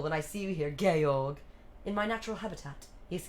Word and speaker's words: Georg: Oh, I forgot she calls him Georg. George, sorry, I'm saying it wrong.